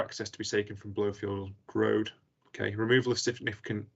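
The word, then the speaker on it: Blofield: blowfield road uh lingwood i've got blowfield and lingwood correct there in terms of pronunciation yes you have yes thank you let's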